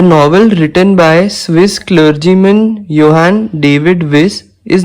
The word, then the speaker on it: Johann David Wyss: इसको ये J है लेकिन J is silent, so it is pronounced as Johann David Wyss.